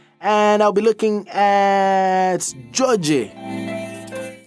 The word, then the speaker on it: Djodje: And I'll be looking at Djodje. It's pronounced more like Djodje.